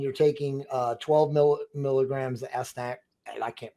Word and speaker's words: astaxanthin: at night, and you're taking 12 milligrams of astaxanthin. I can't pronounce the word. Say that again for me one more time. Astaxanthin.